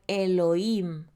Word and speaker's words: Elohim: Yo soy tu Elohim, se puede pronunciar Elohim, quien los sacó de la tierra de Mizraim, de Egipto, fuera de la casa de esclavitud.